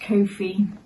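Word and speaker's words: kōwhai: nice with a yellow Co High pronounced Kofi uh it is a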